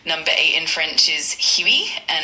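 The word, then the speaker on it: huit: Number eight in French is Huey and it's spelled H UI T.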